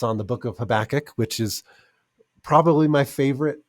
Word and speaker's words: Habakkuk: that she named habakkuk so whenever I say the book of Havoc I have to be careful to remind myself of the correct pronunciation but um habakkuk I think is such